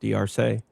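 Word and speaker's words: D'Arce: Do you know that the word Darce is actually pronounced Diarse? It's the Diarse choke and not the Darce choke, because Joe Diarce's name is not Joe Darce.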